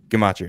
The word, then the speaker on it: Gematria: Gematria is fine. It's pronounced that way.